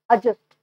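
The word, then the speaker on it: adjust: जैसे हम लोग जाते हैं ट्रेन में तो हम लोग बोलते हैं एडजस्ट हो जाइए, नहीं एडजस्ट नहीं बोलेंगे, एडजस्ट एडजस्ट बोलेंगे, डी साइलेंट हो जाएगा वहाँ पे।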